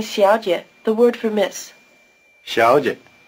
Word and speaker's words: 小姐: 小姐 In this word, both syllables begin with the tongue in the forward position, the so-called palatal position.